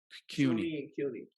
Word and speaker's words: CUNY: why and i forget cody's how do you pronounce that one yeah same thing okay yes but that's cuny okay so that's a city version okay so